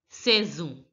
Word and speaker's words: saison: The AI sound has to be pronounced as the A sound. So that's why it is saison. And the Z and S becomes Z because there's a vowel because it's between two vowels E and O.